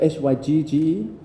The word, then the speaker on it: hygge: It's spelled H-Y-Y-G-E, something like that. H-Y-G-G-E.